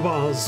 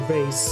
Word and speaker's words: vase: the witness cleaned up the vas or vase or I never know how to pronounce this word because both pronunciations are technically correct well the police were